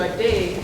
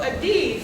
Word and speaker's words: Ade: And still they couldn't pronounce it. They would go Ade. So I said, why don't you just remember what a difference a day makes? And then you can pronounce that name.